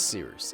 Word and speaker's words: Cyrus: I hope so, and I can’t wait to talk about it soon My name is Cyrus. It’s spelled like “Cyrus,” pronounced like “See Rooster,” just take out the “ter” Thank you very much for watching and have a wonderful day!